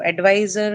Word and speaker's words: advisor: So advisor is also a case like that. What is it? It has derived from the verb advise right and verbs are marked on which syllable adise second one right. So in the case of advisor again the stress is on the second syllable for this reason because